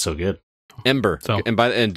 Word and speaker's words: Embr: oh it's so good ember so and by the end to be clear it is spelled e-m-b-r if you were searching for it uh there's it's missing an e from the normal word like it's an app